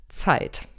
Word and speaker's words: Zeit: in dieser gruppe ist zeit da müsst ihr genau aufpassen dass z wird hier wie tee und es zusammen ausgesprochen ihr seid schon seit